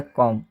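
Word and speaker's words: comb: लिख दिया गया है कॉम कॉम का मतलब होता है कंघा यहां पे भी लिखा गया है यहां बी से पहले एम आया है इसलिए इसमें 20 साइलेंट हुआ है जब भी 20 से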